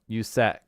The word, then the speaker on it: USAC: being chat oh well oh USAC is pronounced usack oh okay I get